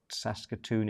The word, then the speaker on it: Saskatoon: Janine says I'm saying it right. That's Saskatoon in Saskatchewan.